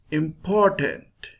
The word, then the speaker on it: important: Important, important. Im, lower sound. Tent, lower sound. Po, higher sound.